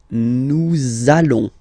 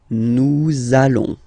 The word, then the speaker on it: allons: it does mean that you will have to pronounce this z sound, okay, listen to me, nous allons, nous allons.